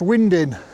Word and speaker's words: winding: It's spelt winding, but it's pronounced winding, same as on the canal network.